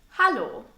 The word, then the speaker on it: Hallo: The most commonly used phrase to greet someone in a casual or informal way is a simple hallo. Hallo. Almost sounds like the English hello.